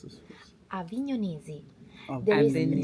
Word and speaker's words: Avignonesi: So, first yes, question: how do you pronounce this? Avignonesi. Oh, There is Avignon. G and is N. Yeah. Avignonesi.